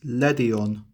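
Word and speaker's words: Ledian: The official pronunciation is Ledion.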